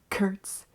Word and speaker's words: Kurtz: new name of Kurtz. I will take my new identity, but do I have to accept the fact that my name rhymes with Hertz?